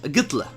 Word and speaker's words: Hitler: they don't even mention, like they have in text like H, but they don't even pronounce it. Like, what's that all about? When they say Hitler, they say Hitler, Gitler. Gitler. Ah, yeah, they mentioned it with G, so it's Gitler.